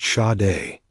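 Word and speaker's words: Sade: It's pronounced shade like the singer but spelled shade on her birth certificate because she laughs hard and sharp because America.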